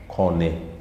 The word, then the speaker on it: kone: Kone. Kone and corn. It is basically corn and kone. In English, we pronounce it as corn, but in the Luo, it is kone.